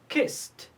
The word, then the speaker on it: kissed: Kissed, kissed. We pronounce ed t because it's preceded by s.